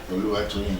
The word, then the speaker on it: Oluwatoyin: Did I pronounce it well? Oluwatoyin. Oluwatoyin, yes. Okay, the H is for...